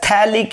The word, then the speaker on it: phthalic: ortho position, that is commonly called as phthalic acid. pH is silent.